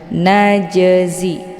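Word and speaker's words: نجزي: Najzi, ada jim sukun yang terdapat di pertengahan, ini dinamakan dengan qalqalah sughra. Cara bacanya huruf jimnya dipantulkan dengan pantulan ringan. Najzi, keluar bunyi j.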